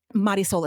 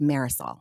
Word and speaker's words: Marisol: Maris soul especially Marisol. Sorry she pronounces it marisol.